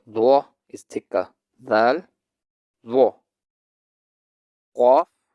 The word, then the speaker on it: ق: Qaf, kaf. Qaf, kaf. Qaf is pronounced by touching the deepest part of the tongue to the floor above it. That is the soft palate.